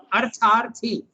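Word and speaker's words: arthārthī: Artharthi. Artharthi. When you see that bar on top, it's long. You have to pronounce it long.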